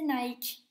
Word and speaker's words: Nike: la victoire en grec en anglais ça se prononce mahiki et en français et en haïti c'est nike en ça veut dire